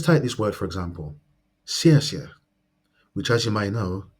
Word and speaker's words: 谢: It is made up of the initial si and the final yeah.